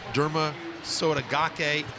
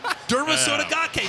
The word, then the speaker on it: Derma Sotogake: I'd say it without emphasizing every single syllable because you know that you might not say it right. That's right. Listen, Derma Sotogake.